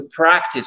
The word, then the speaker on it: practice: Mais on dit to practice, on ne dit pas to practice, on dit to practice. Practice, l'accent tonique, ici, il est sur la première syllabe, c'est une exception.